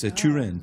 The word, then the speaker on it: Torino: Oh, I've never been to Torino. It's northern Italy. It's Turin, Torino.